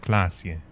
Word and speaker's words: Klasje: Klasje is pronounced Klasje.